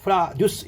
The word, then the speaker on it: produce: 작품을 앞으로 이끌어내면 제작하다, 명사일 때는 발음을 produce 이렇게 해서 농산물이라고 합니다.